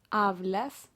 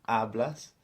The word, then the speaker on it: hablas: So in yo and tú, the accent is actually on the first syllable.